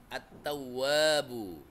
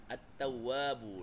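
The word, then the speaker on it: التَّوَّابُ: Oleh sebab itu, alif lam alif lam atau alnya tak dibaca, sirna hilang ya, enggak dibaca lagi. Cara bacanya dengan mengidghamkan atau mentasydidkan ke dalam huruf hijaiyah sehingga alif lam tidak dibaca meskipun tulisannya ada. Contohnya, e attawwabu, attawwabu langsung alif lamnya enggak dibaca, langsung masuk ke huruf ta.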